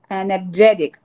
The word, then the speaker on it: energetic: Energetic. Yes. When a word in English is ending in IC, you stress the syllable before IC.